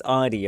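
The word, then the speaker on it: Ardougne: Ah, I say Ardoin. Uh, but there's a great video of all the mods being asked how to pronounce it, and all of them says it's differently. Last mod breaks and goes, "It's Ardy." Okay, that's what everyone calls it.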